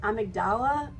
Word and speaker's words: amygdala: Next is the amygdala. I've also heard it pronounced amygdala.